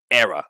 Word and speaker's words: Hera: Jedi left so um the H in Hera is silent it's era okay uh thanks again